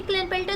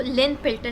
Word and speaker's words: Klinefelter: ये क्लिनफेल्टर सिंड्रोम जो है ना, इसको ज़्यादातर जो अमेरिकन होते हैं इसको लिनफेल्टर सिंड्रोम भी कह सकते हैं, मतलब लिनफेल्टर सिंड्रोम भी कहते हैं, जो के है उसको साइलेंट कर देते हैं।